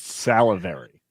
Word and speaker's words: salivary: It's pronounced salivary.